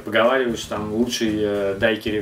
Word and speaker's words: дайкири: если смотреть всякие википедии, там везде пишут с ударением на последний слог «дайкири». Я никогда не слышал такого высказывания ни от кого. Сейчас все уважаемые бармены и любители коктейльной культуры, они говорят «дайкери».